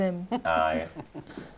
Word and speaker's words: aiment: aiment. Elles aiment. تنطق M.